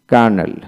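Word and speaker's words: colonel: এল বি স্যাব তারপরে কার্নেল কার্নেল সি ও এল ইউ এন এল ক্যানেল ক্যানেল মানে কর্নেল এখানে এল উচ্চারিত হবে না অর্থাৎ সি ডব্লিউ এন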